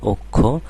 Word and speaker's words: অক্ষ: খুবই সহজ একটা বিষয় অকারের পরে খিয় থাকলে অকারের উচ্চারণটা ওকার হয়ে যাবে আরো সুন্দর করে বলতে